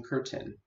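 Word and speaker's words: Kurtin: His story collection, Talk, was published by Oberon Press, and he recently completed his new story collection, Curtin, which is spelled K-U-R-T-I-N.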